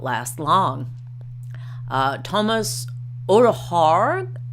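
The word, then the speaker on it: Ødegaard: Thomas Odegaard, I think that's how you say that, or maybe not. It would be Odegaard if you're saying it phonetically in American English.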